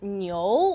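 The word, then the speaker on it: 牛: in chinese language um the character is pronounced as nyo which is just the same like the english word new so happy new year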